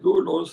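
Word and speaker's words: δοῦλος: Se escribe doulos, pero en griego eso suena, la combinación O es du, es U. Así que se lee doulos, esclavo y siervo.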